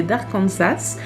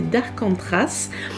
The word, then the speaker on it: Arcantras: 1, Les disparus d'Arcantras, que j'ai toujours envie de prononcer d'Arkansas, mais c'est pas ça, c'est d'Arcantras.